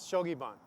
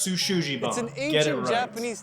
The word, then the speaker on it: Shou Sugi Ban: shoki bond what is shogi bond I don't know what that is it's not sherry it's pronounced sue Shuji bonds technique so when we were